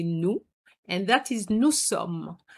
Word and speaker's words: nous sommes: So we're going to say nous, and that is nous sommes. Have you noticed that I haven't pronounced the final S?